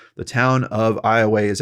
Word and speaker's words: Iowa: wrong the town of ioa is actually pronounced with the long a sound at the end i way opposed to the pronunciation